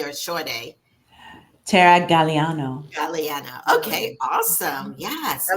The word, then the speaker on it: Galeano: a long a or a short a Tara Galliano Galliano okay awesome yes I love that artwork